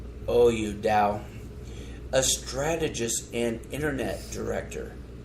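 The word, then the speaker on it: Daou: people are Peter Dow, or how do you say it? No! D-A-O-U, Dow.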